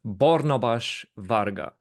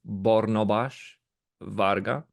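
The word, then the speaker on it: Barnabás Varga: but But nevertheless, Bornabas Varga, that is actually his name, because that is the pronunciation for Hungarian names, Bornabas Varga.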